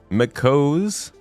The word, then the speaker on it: Makose: Makose rhymes with toes.